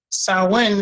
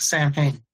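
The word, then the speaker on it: Samhain: Halloween comes from uh uh the tradition of sawin. Sawin is spelled s a m h a i n. It looks like Sam Hang, but it's pronounced sawin.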